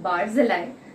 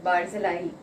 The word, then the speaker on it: Barzillai: person is by called by the name of barzillai or the typical hebrew pronunciation of it is barzilla he now i am more comfortable saying barzillai so throughout my sermon i'll be referring to